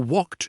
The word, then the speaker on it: walked: For walked, it is like a t sound.